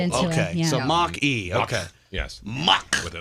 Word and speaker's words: Mach-E: It's either the Mach-E or the Match-E. Mach. Is it Mach-E? Is it Mach-E. It was a Mach 1. Yeah, that they turned into okay. it. Yeah. So Mach-E.